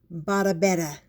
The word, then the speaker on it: Badobedah: grubs that was when I named her madame babetta rhymes with Ooh La La a good name for